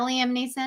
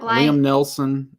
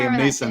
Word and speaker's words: Liam Neeson: physically and then of course what is that liam neeson down there liam liam nelson um as your father-in-law would say no i'm